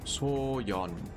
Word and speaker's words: Toyon: Toyon. That's how you pronounce it. Toyon. Like yon. De-emphasize the E and O, just say yon. Dropping near Soyeon City. Yeah, don't do what TTS did. Don't do that. It's yon. Like Y-U-N, you know?